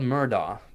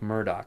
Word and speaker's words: Murdoch: Now it's spelled Murdoch, but it's pronounced Murdoch. I guess that's the Celtic or Scottish pronunciation for Murdoch is Murdoch.